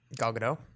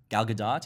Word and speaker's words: Gal Gadot: have to print it have to pronounce the T no sorry yeah this is news yeah not not like the French would pronounce it have any of